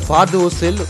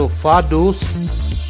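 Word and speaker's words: Vaduz: அது தலைநகர் ஃபார்டூஸில் ஒரு மலையுச்சியில் அமைந்துள்ளது. லீக்சன்ஸ்டைன் தலைநகரத்தின் பெயர் ஃபார்டூஸ். வி போட்டு எழுதியிருப்பார்கள். ஆனால் ஜெர்மன் மொழியில் அது எஃப் உச்சரிப்பு வரும்.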